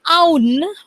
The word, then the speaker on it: Aun: Every time I would say his name is basically On, as in we call it On, but apparently it's not On, it's Aun.